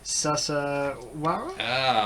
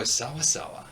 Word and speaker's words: sawasawa: I'm going to probably mispronounce this next one. But Mambo Sasawara? Mambo Sawasawa.